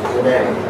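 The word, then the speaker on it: René: So make sure if you're supposed to have that little accent on the final E. It's not Reen, it's Renee.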